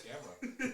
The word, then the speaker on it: Gamerra: Yes, Gamerra.